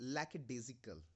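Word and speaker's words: lackadaisical: इसको प्रोनाउंस करते हैं लैकेडेजिकल।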